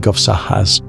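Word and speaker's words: guovssahas: In Sami languages, the aurora is often called guahas, pronounced roughly govsahas.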